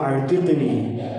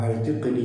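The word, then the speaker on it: أعتقني: ഇവിടെ അല്ലാഹുമ്മ അഅ്തിഖ്നി എന്നതിലെ ഹംസ അത് ഹംസത്തുൽ ഖത്അ, അതായത് അത് ആ ഉച്ചരിക്കണം. ചില ആളുകൾ വളരെ ധൃതിയിൽ ദുആ ചെയ്തു പോകുമ്പോൾ അല്ലാഹുമ്മ അഅ്തിഖ്നി അല്ലാഹുമ്മ അഅ്തിഖ്നി എന്ന് പറയുമ്പോൾ ആ ഹംസ നഷ്ടപ്പെടുന്നുണ്ട്. ആ ഹംസ നഷ്ടപ്പെടാതെ അല്ലാഹുവേ നീ എന്നെ അല്ലെങ്കിൽ ഞങ്ങളെ മോചിപ്പിക്കണമേ എന്ന് അർത്ഥം വരണമെങ്കിൽ അല്ലാഹുമ്മ അഅ്തിഖ്നി എന്ന് തന്നെ പറയണം.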